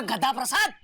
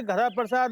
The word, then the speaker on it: गद्दा प्रसाद: ये गद्दा प्रसाद। देखिए, हमारा नाम गद्दा प्रसाद है, गधा प्रसाद नहीं। कृपया कर नाम का उच्चारण सही करें।